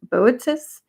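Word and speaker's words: Boötes: to try to pronounce it's b o o Tes so it looks like Bo botis and that's known as the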